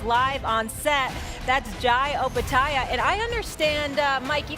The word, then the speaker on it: Opetaia: And we cleared things up because everyone pronounces your name wrong, and we're just going to get it on the record. Opetaia. Opetaia, that's correct. Opetaia, Yeah.